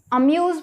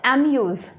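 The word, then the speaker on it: amuse: अब अम्यूज बोल रहे हैं, नॉट एम्यूज। अ को स्ट्रॉन्गली नहीं लेके जा रहे, तो वीक वाली साउंड वाला अ, म।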